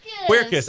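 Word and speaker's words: Quercus: from circus at aop how do you say that circus q-u-e-r-c-u-s queer kiss okay that's Melissa okay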